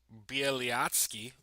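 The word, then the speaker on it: Bialiatski: Belarus is freeing Nobel Prize laureate Bielyatsky. Ooh. Shout out me for pronouncing this dude's name right.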